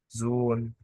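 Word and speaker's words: Sohn: ساكن هسكن حرف الهاء تعالي نشوف زي كلمه زون زون زون ايه اللي حصل ما نطقتش الاتش لا وكمان طولت في الحرف المتحرك زي ما انا كاتب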